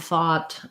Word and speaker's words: though: For though, you would see the o symbol.